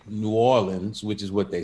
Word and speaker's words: New Orleans: How do you pronounce New Orleans without getting slapped? Just like that. Okay. Okay. What shouldn't you say? You definitely should not say Nawlins.